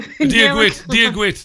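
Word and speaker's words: Dia dhuit: Is it Dwatwit? God be with you? Diagwit. That's right, Diagwit.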